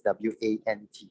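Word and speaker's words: wont: But interestingly, the word is pronounced as want. It has the same pronunciation as W-A-N-T, want.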